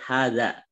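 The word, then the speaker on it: هٰذَا: Di sini kita selain idofah, gitu ya, kita juga sudah disampaikan terkait hadza. Hadza ini walaupun ha-nya itu tulisannya itu tidak panjang, tapi dibacanya panjang gitu ya.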